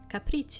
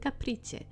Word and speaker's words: Caprice: Her name's Caprice. This is an Italian name. Funny. Maybe I shouldn't say it like that cuz you're not going to understand it. Caprice and her art club can help. Or so she eagerly claims. Then how would you say it? Caprice. Caprice maybe. Yeah. No, no, no, no. That the right way to say it. Caprice. Caprice. It's an Italian uh name.